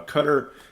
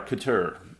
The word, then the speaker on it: Qatar: a few other Gulf States then merging uh cter is not one of the Gulf States that's trying to normalize relations cter is also or Qatar you want to say I've always been told